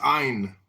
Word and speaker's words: Ayn: I-Y-N, how do I pronounce that? It's Ein.